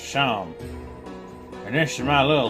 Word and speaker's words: Seam: Name Seam. Pronounced Sham.